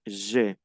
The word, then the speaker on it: j'ai: Ahí se pronuncia E. J'ai.